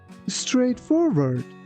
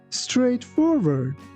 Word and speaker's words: straightforward: Here again, be careful that when you pronounce letter W, your lips shouldn't touch each other.